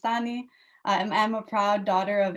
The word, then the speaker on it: Tani: So I'm Tani, pronounced Tani.